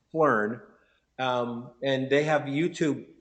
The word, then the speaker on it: Phlearn: It's Phlearn, and they have a YouTube channel.